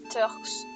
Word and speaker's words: Turks: Non, mais c'est Turks dans la prononciation.